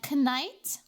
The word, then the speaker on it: knight: Yeah, it's knife and a knight. Huh? Exactly. You don't pronounce the K, so why K?